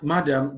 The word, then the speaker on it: madam: Supply, madam, demand, request. For supply, the stress is on the second syllable. For madam, the stress is on the first syllable.